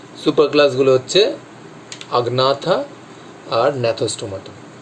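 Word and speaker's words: Agnatha: Super ক্লাসগুলো হচ্ছে আগনাথা আর ন্যাথোস্টোমাটা। এই আগনাথাটা তোমরা কোথাও দেখতে পারো আনাথা বলে লেখা থাকে, জিটা সাইলেন্ট ধরা হয় সেখানে।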